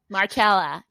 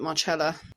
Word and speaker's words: Marcella: essentials of italian cookie markella oh yeah we have an apology to make actually yeah we do marcela um because we're ignorant people you apparently pronounce it marcella sorry pal i'm gonna